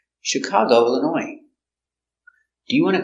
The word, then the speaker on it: Chicago: Detroit very good example Chicago comes from French so we pronounce it soft ship Chicago is the accent cargo Chicago is a city in